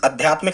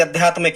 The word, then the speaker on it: आध्यात्मिक: तो जब भी आप इस आध्यात्मिक शब्द को पढ़ें तो कभी भी इसे आध्यात्मिक ना कहें स्टूडेंट्स, इसको सही स्पेलिंग आप इसकी करें, सही प्रोनाउंसिएशन इसका करें। ये शब्द है स्टूडेंट आध्यात्मिक। क्या शब्द है? आध्यात्मिक।